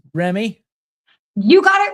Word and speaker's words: Remmey: Today, we're joined by, and I'm going to get her last name wrong. I've done it 3 times already. It's Remmey.